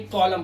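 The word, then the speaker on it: column: ऐसे ही कॉलम, कॉलम के अंदर एम के बाद एन आया, तो सिर्फ कॉलम पढ़ रहे हैं, एन साइलेंट है।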